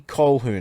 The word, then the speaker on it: Colquhoun: Jesse Colquhoun. I've pronounced it right, I swear to you.